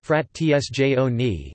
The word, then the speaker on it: frazioni: Italian pronunciation, frat tsjone, place frazioni, frat tsjone, is the Italian name given in administrative law to a type of territorial subdivision of a commune.